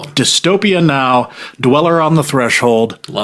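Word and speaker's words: Dystopia Nå: It's pronounced Dystopia now.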